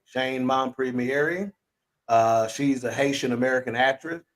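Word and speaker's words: Shein Mompremier: But my selection was the one and only Shane, and it's pronounced Shane Mompremiere. Shane Mompremiere.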